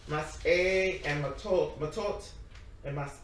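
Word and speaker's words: Masei: Let me just look at the Hebrew so I can pronounce it right. Matot and what goes, wait, it goes. Mas A. And so it's Mas A and Matot and Mas A, and it's from Numbers 30.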